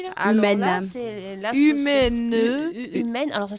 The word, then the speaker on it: UMEN: là, c'est Humaine. Humaine. Alors ça s'écrit U-M-E-N et c'est Univers montagne, esprit nature.